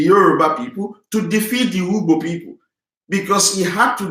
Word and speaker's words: Ugbo: It was the Ugbo people, because the king of Ilaje is Oluigbo. Their name is spelled U-G-B-O, Ugbo, not Igbo.